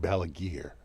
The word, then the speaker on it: Balaguer: We asked him, how do you pronounce this friggin' name? He's like, Balaguer.